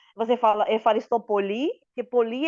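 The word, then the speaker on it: ευχαριστώ πολύ: Isso, uhum, exatamente como você falou, Efaristopoli. uhum. Nossa, dona, e a pronúncia, tipo, do alemão, assim, gente, eu tô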